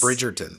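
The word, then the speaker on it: Bridgerton: Bridgetgerton. Am I saying it right? Yes. Bridgetgerton.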